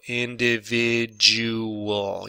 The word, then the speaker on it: individual: to pronounce the jewel the d u here is going to be jewel individual yeah jewel that's interesting huh because